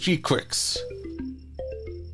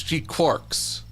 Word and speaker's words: GQuuuuuuX: I believe it's pronounced G-Quicks.